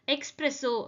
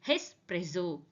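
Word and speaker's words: espresso: And next word எக்ஸ்பிரெஸோ அப்படின்னு நம்ம நிறைய இடத்துல சொல்லியிருப்போம். ஆனா இது பேரு எக்ஸ்பிரெஸோ கிடையாது. This is called as ஹெஸ்பிரெஸோ.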